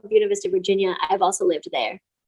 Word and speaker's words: Buena Vista: college back east um a little town called buena vista if you're pronouncing the spanish pronunciation but the locals call it buna vista and that's what you have to call a little town called buena vista virginia i've also lived there wow uh so